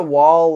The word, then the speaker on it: Wahl: I think there's the Wall, like, electric razor brand. And That's I think that's WHAL. Yeah. WAHL is how that's spelled.